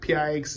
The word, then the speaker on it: Pix: you time and fees, Pix is instant or picks, whichever way you want to pronounce this. I know somebody's going to have an issue with how I'm saying it, but it's instant.